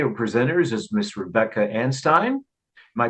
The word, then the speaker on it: Anstine: My two speakers today or presenters is Miss Rebecca Anstine. Am I pronouncing that correctly? Anstine?